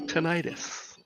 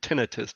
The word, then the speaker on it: tinnitus: Also known as tinnitus or tinnitus, depending on how you want to pronounce it.